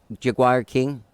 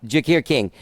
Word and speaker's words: Jacquire King: Okay, so you reach out to how do you say Jaguar King? Jakir. Sorry, shit. Yeah. Okay. No, it's okay. Jakir King.